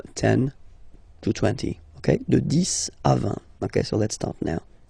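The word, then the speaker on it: dix: to 20 okay the this okay so let's start now this okay so remember final X here is pronounced like s this this okay then okay so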